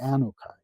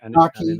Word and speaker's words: Anunnaki: Have you heard of the Anukai? Yes, It's a yes. I group think of I've heard them pronounced differently. The Anaki or Anunnaki, Anukai. Anunnaki. There's Yeah, also Anukai. Anunnaki.